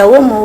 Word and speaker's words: Aomo: Non, c'est bien prononcé, c'est Aomo, oui, Aomo.